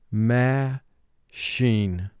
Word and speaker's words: machine: the word ma sheen here we have a representing the short sound and so we underline the two to indicate there's an exception to vowel group two we have a dotted underline under ch to indicate ch is representing its third sound sh and we have an x under the eye now when we have